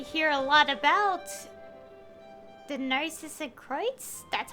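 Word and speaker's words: Narzissenkreuz: That was quite the conversation, though, considering we hear a lot about the Narcissus Kreutz, that's how it's pronounced, in the Fontaine World Quest series that I've mentioned a few times during that cutscene.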